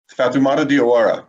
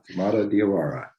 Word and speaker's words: Fatoumata Diawara: Fatoumata Diawara, that's the pronunciation, John. Fatoumata Diawara, got it.